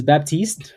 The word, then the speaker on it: Baptiste: Well, your last name is Baptiste. French and still pronounc it Baptist.